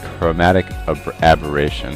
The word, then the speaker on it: chromatic aberration: I pronounced this incorrectly in the last video, so let me take this chance to say it's chromatic aberration, and I'm so used to saying abrasion that I can't get it out of my vocabulary.